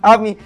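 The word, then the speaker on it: আমি: Only, you said like you were I'm Bengali. I'm Bengali. Ami.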